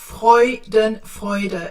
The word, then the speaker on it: Freudenfreude: Yeah, because FreudenFreude, it's actually, the EU is pronounced oi. FreudenFreude.